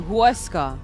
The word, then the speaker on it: Huesca: H is pronounced as W. Huesca.